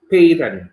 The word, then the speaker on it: Paton: Paton. Yes, you're saying Kathleen it right. Paton. Peyton.